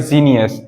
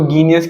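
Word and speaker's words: genius: तो हम इसको गीनियस क्यों नहीं करें? क्योंकि जी और ई को हम दोनों को जब एक साथ प्रोनाउंशिएट करते हैं तो इसका प्रोनाउंसिएशन जा निकलता है, जा निकलता है, इसलिए हम इसको कह रहे हैं जीनियस।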